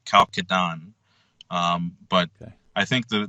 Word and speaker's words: Chalcedon: to start off with: is this pronounced Chalcedon or Chalcedon? I've heard it both ways. Yeah, and I've heard it both ways, and I think the more proper way of saying it in English is Chalcedon.